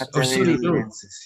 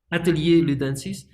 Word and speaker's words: Atelier Ludensis: Atelier Ludensis, yes. Atelier Ludensis. So should I pronounce it like French style? Yeah, I think it's a bastardization of French and Latin.